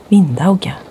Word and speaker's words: vindauga: The original pronunciation in Norse Scandinavian was vindauga.